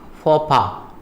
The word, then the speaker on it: faux pas: It is pronounced as faux pas, means a social blunder.